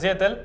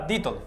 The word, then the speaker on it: Dietl: Ya estamos aquí con, he dicho antes Dietel, voy a decir ahora Dietl, que es como se pronuncia exactamente porque es de origen austríaco.